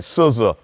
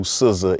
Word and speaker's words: SZA: that I know who SZA is, and I'm not saying SZA's SCISSORS. I think that's how you spell it. SZA's like the scissors you cut.